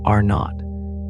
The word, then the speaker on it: R0: R0 pronounced R not represents the average number